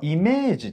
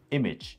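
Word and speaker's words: image: のことだねこれイメージとは言わないんだね発音はねそうそうメジイメジ短いうんエジねま写真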